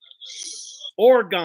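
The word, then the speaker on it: Orgone: Is that an A or an O? It's an O. Orgon. It's an O. It's called Orgon.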